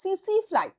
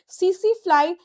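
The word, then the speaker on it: tsetse fly: এবং এটার বাহক হচ্ছে সিসিফ্লাই। বাহক হচ্ছে সিসিফ্লাই। স্পেলিং লেখা হয় টিএসইটি এসইটিটা এখানে সাইলেন্ট। সিসিফ্লাই এটা কিন্তু বাহক।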